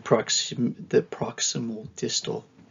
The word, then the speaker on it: proximodistal: So your proximal distal is how you say it.